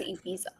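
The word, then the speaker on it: Ibiza: This is a I don't know how else we're supposed to pronounce it, dude. Yeah. Yeah. It is ebiza.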